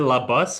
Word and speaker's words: Labus: Is it La Bus or La Bus? It's actually Labus. Labus.